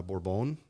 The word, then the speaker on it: Bourbon: then from there there's one called uh borbone um spelled like bourbon named after uh an